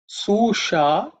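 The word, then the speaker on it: सुषा: The next mantra is Susha chame. Susha chame. Susha chame. Okay. In terms of pronunciation, the sha is cerebral sha. So tip of the tongue should point upwards.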